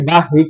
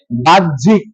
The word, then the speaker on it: বাহ্যিক: জ ফলা এই সম্পূর্ণ হ জ ফলা এর বিপরীতে বর্গীয় জ এবং ঝ এর উচ্চারণ হবে তাহলে এটার উচ্চারণ হবে